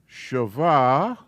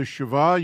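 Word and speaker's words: שווא: And this is a shava. I'll phonetically spell it. Sha. Va. And its pronunciation is eh.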